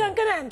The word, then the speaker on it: Skunk Anansie: Do we have a different way of pronouncing the name of the band in Italy? Skunkani. Skunkani. Skunkani.